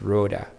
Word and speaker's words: Rhoda: So if I see Rhoda, I say it's not Rhonda, is it? And you say, no, there's no N. It's Rhoda. R-H-O-D-A. And in my head, I will just repeat that, R-H-O-D-A, as I talk with you.